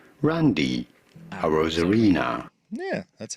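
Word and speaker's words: Arozarena: in America it is generally said as Randy a rosarina Randy a rosarina yeah that's how a rosarina a Rosena Reena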